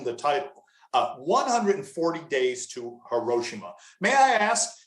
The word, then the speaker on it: Hiroshima: it is that there's a countdown to Hiroshima, or Hiroshima as you pronounce it.